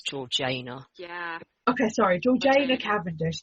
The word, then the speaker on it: Georgiana: even got to throwing keira knightley and uh georgiana cavendish and the duchess so i am i knew you were gonna pronounce it wrong i was looking at the notes and i was like apparently it's georgina yeah okay sorry george cavendish there we go